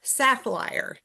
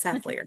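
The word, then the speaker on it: Sathlir: She calls S A T H L I R Sappliar. His name is Sapplier. It's not Sappliar.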